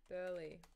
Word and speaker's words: Burleigh: I used to go down to Burleigh Heads.